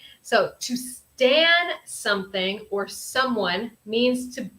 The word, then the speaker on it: Stan: on Stan okay yes Stan is different from Stand um we don't have that D sound at the end yes exactly Richard very